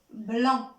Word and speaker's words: blanc: Alors, sur le sable blanc. B, B. Blanc. Et à la fin de la phrase, les enfants, regardez, il y a la lettre C qui est muette, on ne la prononce pas.